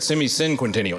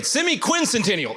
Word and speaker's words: semiquincentennial: I think I said semicinquentennial. Anyway, semiquincential is the right way to say it.